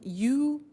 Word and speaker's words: used: Now, this verb used to, well, it's written U-S-E-D, but the pronunciation is used, and we'll see that on the screen later.